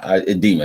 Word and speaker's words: edema: um the next one edema uh edema is pronounced Eda edema excuse me did right swelling of your feet